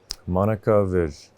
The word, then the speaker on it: Monika Vijh: Monika Vijh. Is that how I pronounce it?